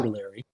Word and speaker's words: Bottiglieri: Bottiglieri. And pardon me if I'm crashing your name. That's pretty close. The G is silent. It's Ah, Buttiglieri.